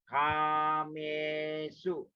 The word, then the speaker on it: Kamesu: Kamesu. Short U. Kamesu.